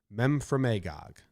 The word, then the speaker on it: Memphremagog: Memphremagog.